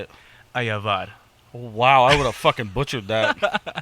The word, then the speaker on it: Ayabar: your last name how do you say it ayavad wow I would have butchered that that was romantic damn all right